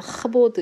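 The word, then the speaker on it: כבוד: 자, 히브리어로 영광은 카보드라는 발음입니다. 신약에서는 낙사였죠. 그런데 히브리어로는 카보드인데 카라기보다는 약간 하보드 이런 소리예요.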